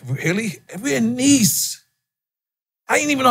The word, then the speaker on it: Nice: We're in Nice. I didn't even know how to pronounce it at first.